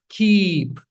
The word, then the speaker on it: keep: You cannot say kip keep kip. No it's keep.